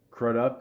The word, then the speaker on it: Crudup: Obviously, Alec Baldwin, Tammy Blanchard, Billy Crudup.